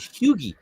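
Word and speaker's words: Hughie: the CIA team um Hugh hugi Campbell that's what it is hugi um a train a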